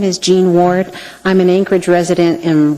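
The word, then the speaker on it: Jean Ward: thank you thank you hello my name is gene ward i'm an anchorage resident in west turning for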